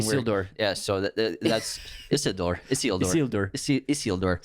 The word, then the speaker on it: Isildur: Isildur. Say it like Spanish. Sorry, Isildur. we're going to get so many comments. You actually pronounced it right.